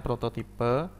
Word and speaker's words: prototipe: Prototype sendiri dari istilah bahasa Inggris ya, prototype, kalau di bahasa Indonesia kan bacanya prototipe.